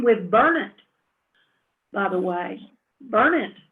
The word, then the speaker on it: Burnett: Burnett is supposed to be pronounced Burnett, not Burnett.